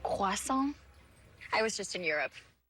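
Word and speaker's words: croissant: It's actually pronounced quason.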